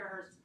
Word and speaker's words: her: When we have a word like her, we can omit the H and just say after her, instead of saying after her second aunt, we can say after her second aunt.